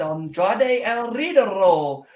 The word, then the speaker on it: Andrade el Idolo: Bullet Club winning And on TV, you know, you got to roll your R's. It's Andrade el Idolo.